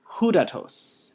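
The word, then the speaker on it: ὕδατος: Tu hudatos. Make sure to get the rough breathing there.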